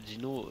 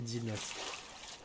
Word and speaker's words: Dinos: pas blague làdessus c'est Dino Dino DIN ah il est parti dans un parc pour enfant frère dinos ah c'est dinos du coup apparemment je dois prononcer le S dinos je connais pas [